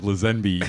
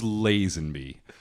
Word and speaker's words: Lazenby: of the guy's name which I still think lizanne B's is a pretty funny pronunciation and a good joke and somebody was